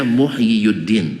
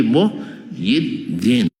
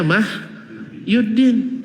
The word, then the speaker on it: Muhyiddin: dua tuh muhyiun aslinya cuman karena berat bagi orang Arab dibaca Yi saja gak dibaca muhyiuddin tapi Muhyiddin paham karena dma di atas ya itu berat bagi lisan orang Arab sehingga bacanya Muhyiddin bannya muhyiuddin tap orang-orang tua kita dulu ulama-ulama kita dulu bacanya mah yuddin sehingga kebanyakan ulama kita